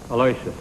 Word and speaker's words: Aloysius: you didn't call him by his right name alawishes I say that people are entitled to call themselves what they want to call themselves what do you call yourself Alicia cool they talk either way what pronounce correct that's why I call it a